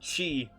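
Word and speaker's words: χ: For those who may not know still, in Kingdom Hearts Chi, or Key, however you want to pronounce it, that mobile game, from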